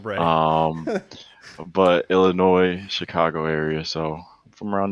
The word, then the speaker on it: Illinois: how other people say illinois even though the s is silent um but illinois chicago area so from